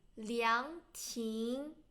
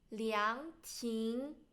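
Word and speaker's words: 凉亭: And then first one, pavilion, 凉亭, 凉亭. Both second tone, 凉亭.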